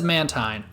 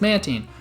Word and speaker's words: Mantine: Now, the reason Mantine's is weird because you might have heard the 4Kids dub. That says Mantine. But the earlier dubs of Pokemon says Mantine.